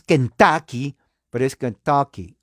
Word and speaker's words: Kentucky: saben inglés se pronuncia se escribe con la u muchos dicen en español que en tuki pero la u en inglés es una a corta gutural o sea no es Kentucky pero es Kentucky O